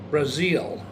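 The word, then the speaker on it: Brazzel: Captain Bill, I think it's pronounced Brazil, B-R-A-Z-Z-E-L, of Stockton, California Police Department, for his spiritual guidance.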